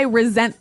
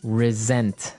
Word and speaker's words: resent: Well, Anthony said, I resent that. Resent. Resent. Okay, now this is spelled exactly like resent, like with an S, right? That's right. R-E-S-E-N-T. But you pronounce it like a Z.